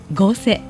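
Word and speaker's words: 御所: もまさかこれで御所、地元以外の人 100 人に聞いたら 100 人とも御所って読むんじゃないでしょうか。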